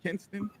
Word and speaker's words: Kinston: You have another young man and I always keep saying this name wrong, so forgive me, y'all. It is called Kinston, correct? Kinston, Yeah, Kinston.